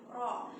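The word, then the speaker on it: ر: kategori satu huruf yang harus dibaca tebal, ya, ro, yaitu ujung lidah, ya, bertemu gusi, bertemu langit-langit, yaitu pangkal gigi atas, ya, terus keluar getaran di situ, ya, ro.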